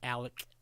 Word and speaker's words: Alex: that my man's name it's spelled Alex and they're gonna pronounce it Alec and it's you know